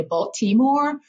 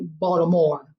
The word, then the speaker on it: Baltimore: And I always say, when someone's truly from Baltimore is when they don't pronounce the T. So if you're not from Baltimore, you'll say Baltimore.